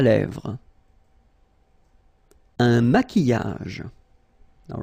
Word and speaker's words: maquillage: Un maquillage. Okay, so here, same rule. QU, but then U is not pronounced. So, qui, and then y.